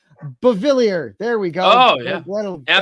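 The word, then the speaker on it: Beauvillier: Bavilier.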